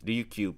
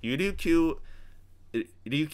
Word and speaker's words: Ryukyu: So Ryukyuan is actually the more correct term. Or in the Ryukyu languages, you say Liuchuan. Ryukyu is actually a Japanese pronunciation, so it's actually not the original pronunciation.